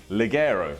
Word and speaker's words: Ligero: El, take a pause, Ligero. El Ligero.